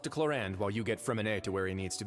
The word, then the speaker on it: Freminet: I want to keep saying Freminet. Freminet. There's no T sound.